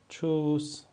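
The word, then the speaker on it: Tschüss: واژه چوس یعنی خداحافظ اینجا هم ما ترکیب ت اس سه ها رو داریم و چه تلفظش می‌کنیم کنیم چوس خب خب دوستان فکر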